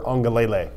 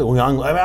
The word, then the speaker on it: Uiagalelei: I don't think that's it. I think it's Uiagalelei. I'm basing this on the pronunciation that you put in Dog Nation. You didn't give me enough syllables, not even close.